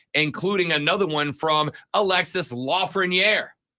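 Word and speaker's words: Lafrenière: another one from Alexis Lafreniere. There's another one you can work on. Great one. Lafreniere. Yeah, I was just helping. He's French.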